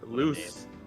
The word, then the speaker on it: Luz: is loose. loose, I'm gonna fucking slap She's you like, if you I'd say- butcher the I'd say Spanish light language in as again.